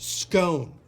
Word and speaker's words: scone: they kind of work it's pronounced scone the way it's spelt yeah it's not controversial